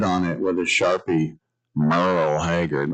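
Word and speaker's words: Merle: Merl Hagard. Remember Merl was a silent e.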